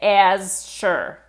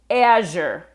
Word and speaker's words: Azure: Azure, Azure. Let me go into a little more detail. This Z sound is probably not in your language.